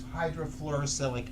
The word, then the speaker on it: hydrofluorosilicic: It's hydrofluorosilicic acid.